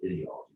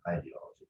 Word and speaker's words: ideology: I pronounce it ideology, not ideology. Because ideology rhymes with idiot, or you know, it has resonance with the word idiot.